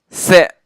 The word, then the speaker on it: 三: 三是塞塞塞，四也跟普通话差不多，四就是四四四。